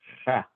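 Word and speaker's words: ح: Yeah, just imagine that you're snoring. You know, when you snore, you do that, right? Just imagine you're snoring, and you'll be able to pronounce it. But it's ha. Yeah. Again, it's coming from this area here.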